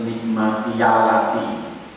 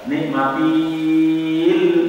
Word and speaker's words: نعمتي: Ulkuru, ingatlah oleh hai Bani Israil, nikmati, kalau dibaca terus nikmati yalati, yakni itu yakni kakalim harusnya mati, maka bacanya nikmati. Tapi ketika mau disambung pada huruf sesudahnya yang tasdid, itu tidak boleh dan dibaca nikmatil, nah tidak boleh. Tapi yaknya menjadi di harokati fathah, maka menjadi nikmati yalati.